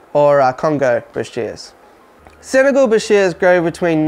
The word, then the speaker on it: bichir: we're talking about beshears you'll hear people refer to them as bikers boshes but if you trace it back it goes all the way back to the 1800s and is derived from arabic language and there's a clear-cut pronunciation that is bashir so that's the one